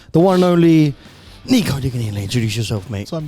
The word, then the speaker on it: Diguiny: Is it Diguiny? Am I saying it correctly? Yes. How do you pronounce it? Diguiny, that's it. Diguiny, that's good.